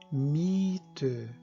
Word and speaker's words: Miete: E note, quando acompanhadas de vogal, no caso o IE no alemão, sempre vai ter o som prolongado do I. Esse E segundo não é pronunciado. Ele simplesmente está aí para indicar que o I é longo.